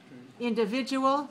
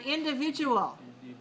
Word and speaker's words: individual: syllables where's the stress individual stress on the third now and individual yes an individual needs